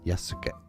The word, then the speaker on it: Yasuke: Japanese name, the Japanese pronunciation is Yasuke. Yeah. Oh, I'm sorry, Yasuke. From Danganronpa, Yasuke. Or in English, it's generally said as Yasuke.